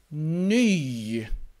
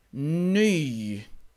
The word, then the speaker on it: ny: Vi har ett adjektiv, ny. Ny. Så titta på min mun. Ny. Den går fram. Ny. Personliga pronomen. Ni. Munnen blir lång.